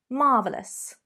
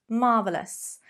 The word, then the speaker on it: marvellous: could happen number 11 listen to my pronunciation marvellous marvellous how many syllables do you hear there three fine totally acceptable use this adjective with two syllables and you're going to sound definitely a little more sophisticated so instead of marvelous